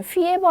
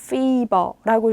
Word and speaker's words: Fieber: 얘는 피에버 아니고 피버라고 읽으시면 돼요.